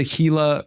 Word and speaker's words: Gila: I call it a Gila monster. I mean, yeah, it's it's spelled G I L.